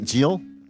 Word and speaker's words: Gyil: Gyil, yes.